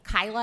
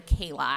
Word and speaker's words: Kayla: Uh, so Kyla is actually Kayla and I'm here with my mom, Tarcella Jones.